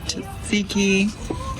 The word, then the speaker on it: tzatziki: That's Komissa, some spicy feta dip, tzatziki, which is pronounced?